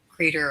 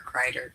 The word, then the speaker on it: Crater: I can't pronounce his last name. Can you crater? Crater. Crater or Crider? It's Crater.